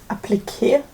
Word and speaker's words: appliqué: I added a little appliqué. I always say application because in German it's Applikation and in Swedish it's Applikation. So I think in English the word is appliqué.